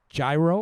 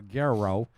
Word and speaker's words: gyro: at number four is a gyro or a gerro depending on how you pronounce it extra sauce no onions